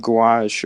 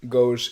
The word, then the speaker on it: Gauche: God, we didn't even fucking talk about Gouache or whatever the fuck from Black Clover and how much I hate him. You probably like him. Gouache? Yeah. It's pronounced gauche. It's fucking left in French, you fucking Russian.